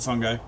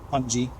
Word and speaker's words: fungi: They felt you were a danger, but they are always cautious, especially the fungi. Fungi. You know, it actually doesn't matter how it's pronounced. Both are correct.